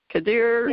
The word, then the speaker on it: Khader: I want to welcome Maria Khader, and I hope I pronounced your name right. Khader? Yes, that is correct.